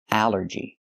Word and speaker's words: allergy: The rule is ALL makes the sound all, like ball and call. But here it makes the A sound, the short A like in apple and black. Allergy. It's 3 syllables. Allergy. The stress is on the first syllable.